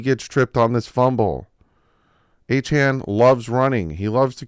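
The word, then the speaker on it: Achane: I want to call him A-Chain. I like the name A-Chain. But it's A-Chan. A-Chan, Doug. Get A-Chan in your head.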